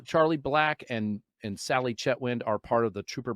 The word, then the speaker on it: Chetwynd: how do you say your last name Sally chatwi chatwi okay so Char Charlie black and and Sally chetwin are part of the trooper black Foundation I'm